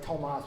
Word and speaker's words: Tomás: That's why my name is Tomás, a little accent on the A, which is just, it's too ethnic for how white I am to be Tomás.